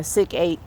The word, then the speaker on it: Sikape: Chief Pontiac goes by Sik-Ape, S-I-K-A-S-I-K, capital A-P-E. The young elder pronounces it psych, like they used to say psych.